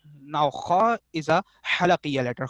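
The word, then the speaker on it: خاء: Now kha is a halaqiya letter। Kha is also a halaqiya letter but pronounced from the top part pharynx of the throat।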